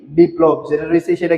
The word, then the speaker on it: বিপ্লব: এখানে দেখেন পরবর্তীতে যেটা রয়েছে সেটা হচ্ছে কি বিপ্লব যেটা রয়েছে সেটা কি বিপ্লব এখানে কি রয়েছে মাঝে ল ফলাযুক্ত রয়েছে শব্দের মাঝে লফালা যুক্ত রয়েছে।